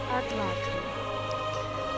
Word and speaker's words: atlatl: Atlatl. Yeah, Atlatl. Okay. Spear, bastard, sword. I would say those would be her weapons. Yeah, not the bow so much, because she's got that Atlatl she can just chuck spears to, like, hunt with.